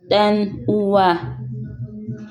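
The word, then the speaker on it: ɗan'uwa: As you can see, for the spelling of brother, we use the D that has curve at the back. That is why it's pronounced as dan uwa, dan uwa.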